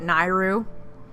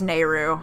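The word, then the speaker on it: Nayru: was talking about and I know an ocarina of time are pronounced at NAIRU it's nehru now that we have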